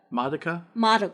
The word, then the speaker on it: Madoka: Madoka.